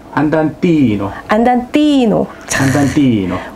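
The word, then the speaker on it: 안단티노: 그럼 제가 하나를 배웠으니까 안단테 뒤에 있는 안단 티노라고 읽어야 되는 게 맞을까요? 티노라고 읽는 게 맞을까요? 지난 시간에 말씀드렸지만 정확한 발음으로 안단 티노.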